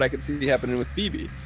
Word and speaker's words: Phoebe: And that's what I could see happening with Phoebe. Because she's got 2 syllables in her name. A Fee and a B.